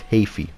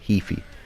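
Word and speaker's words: Heafy: because singer matt hafey that's how you pronounce it by the way it's haphy not heaphy people get that wrong so yeah it's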